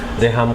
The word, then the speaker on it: Reham: अच्छा, बहुत से लोग गलत प्रोनाउंस भी करते हैं, कोई रीहाम कहता है कुछ एंग्लिसाइज करके और कुछ लोग रहम से समझते हैं कि रूट है। एक्चुअली इजिप्शियन स्लैंग अरबिक से है, बिकॉज मेरी पैदाइश लिबिया की है, तो वहाँ मेरी वालदा को नाम पसंद आया और नाम एक्चुअली रहम से नहीं है, कुरानिक अरबिक से नहीं है, रहाम प्रोनाउंस किया जाता है इन द अरबिक हाँ, और इट इज़ टू do with बादल।